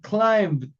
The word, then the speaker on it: climbed: Y como tiene un sonido sonoro, solamente voy a pronunciar la D. La e, como vemos ahí en el ejemplo, queda muda. Climb, escalar. Climb, pronuncio la D. Climbed, climbed, climbed, climbed, climbed, climb.